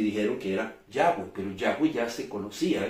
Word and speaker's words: Yahweh: La expresión Jehová ni siquiera se acerca a la correcta pronunciación de es tan solo una transcripción, vuelvo a repetir, del hebreo al griego, que de alguna manera u otra sirvió, entre comillas, para seguir ocultando la pronunciación del nombre de Dios. La pronunciación más parecida podría ser Yahweh, que es la pronunciación más aceptada entre los rabinos en Jerusalén.